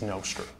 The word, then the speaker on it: Nostr: Can you explain, maybe at a high level, what is Nostr? Yeah, so I call it Nostr because I have an app called Damus, so Nostr Damus. Anyway, but some people call it Nostr.